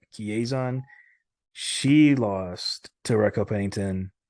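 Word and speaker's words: Chiasson: Chiazon. Chiazon.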